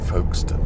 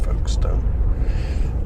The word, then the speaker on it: Folkestone: Just kind of, don't pronounce it stone. She said, well, you call it Maidstone. And I had no answer to that argument. It was kind of valid. However, you just call it Folkestone, don't you?